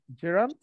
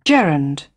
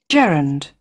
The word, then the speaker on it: Gerund: noun হচ্ছে normal noun না এই নাউনটা কি জিরান জিরান আচ্ছা জিরান উচ্চারণ না কিন্তু আমি আপনাদের আসলে সঠিক উচ্চারণটা